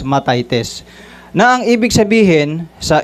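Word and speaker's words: μαθητής: Ma matites matites o mt h e t e s sa gre at ah pino-pronounce ito as matitis na ang ibig sabihin sa English is a learner or a pupil.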